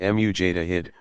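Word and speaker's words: mujtahid: of their erudition earning the title which Tawhid pronounced mu Jada hid one who exercises independent investigation of the sacred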